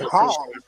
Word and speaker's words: Hong: He said Hong. He pronounced it.